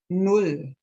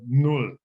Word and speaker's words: null: start with the zero it's in German called null that's n in German with an U as in full for example null and then number one